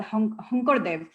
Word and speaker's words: Sankardev: polymath character who's called Hunkardev. He's written out as Sankardev in English, but his name is pronounced all S letters in Assam.